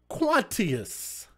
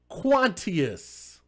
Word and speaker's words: Quantius: Let's spell it. Q U A N Quan. T I O U S. How the else would you pronounce that?